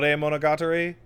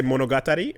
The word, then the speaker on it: Monogatari: uh comedy uh or Monogatri. The that by the way, Monogatri in your anime title. off. Stop. Yeah. Yeah. Yeah. Stop it. Well, are you going to say monogatari or not?